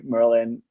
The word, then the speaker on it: Merlijn: Merlijn is a Dutch official pronunciation, but I usually go by Merlin.